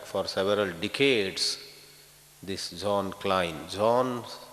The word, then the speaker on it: Klein: European saint called Jean Klein Klein k-l-e-i-n he came to India